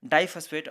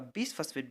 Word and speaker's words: bisphosphate: I am just pronouncing here the bisphosphate, even there is a 2 phosphate present here, but I am not going to pronounce diphosphate, or will not pronounce it like a biphosphate. We are pronouncing it as a bisphosphate because that 2 phosphate are not present at the adjacent carbon.